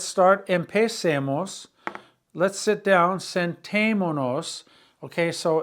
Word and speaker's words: sentémonos: So it's sentémonos, sentémonos. And there's an accent on the E in the middle.